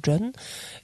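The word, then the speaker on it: སྒྲོན: entier, c'est John Ma, dans ce que vous avez S-G-R-O-N, ça se prononce John, et le terme entier,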